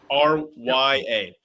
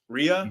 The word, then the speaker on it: Rya: on um her name's Rya right r y a ria May R I think it's pronounced Rya in the game yeah I either way